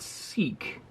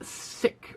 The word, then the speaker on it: Sikh: over the last while it's not seek um it's sick well it's actually i